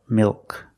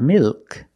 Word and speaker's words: milk: Milk. It's not milk. It's milk. O. The tongue gets fatter at the bottom.